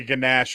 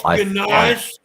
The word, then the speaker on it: ganache: It is to make a ganache involving it and then dip that in chocolate. So It's ganache. Ganache, whatever. It's spelled ganache, and I'm American, so yeehaw!